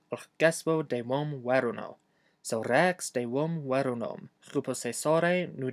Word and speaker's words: rēks: Also, remember to pronounce the e in rex twice as long as normal. Not rex, but rex.